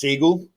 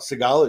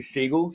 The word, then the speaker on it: Seagal: I do like, by the way, that this guy says Seagal, which is great because that's how his name is actually pronounced, not Seagal. It should be Seagal, Steven Seagal, like Katie Seagal.